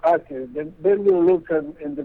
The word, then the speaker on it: Acre: It's a place called Acre.